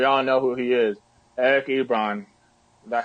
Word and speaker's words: Eric Ebron: And the one guy that really, really stood out today, and we all know who he is, Eric Ebron.